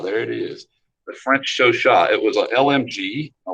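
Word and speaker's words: Chauchat: yeah show Shaw there it is the French show shot it was a lmg a light machine gun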